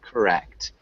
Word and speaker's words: correct: maybe the pronunciation of correct this is an odd word really emphasize the second syllable so it sounds more like correct correct correct correct good and let's